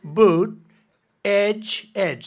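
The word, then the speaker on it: Buttigieg: our airports and the it's a disaster and boot Edge Edge you know boot Edge Edge you know years ago I said how do you pronounce that damn name and they said boot Edge Edge the word Edge Edge that's the way it's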